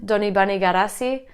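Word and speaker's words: Donibane Garazi: town called San Juan Peter Paul in Basque donee bunny got a sea some people call it st.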